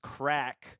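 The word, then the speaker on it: craic: love the idea of musicals so much it's pronounced crack it is I knew what it meant but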